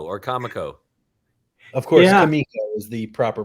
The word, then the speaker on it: Comico: love that the cover is a tribute to kamiko or Comico is the proper pronunciation I was always wondering yes kamiko okay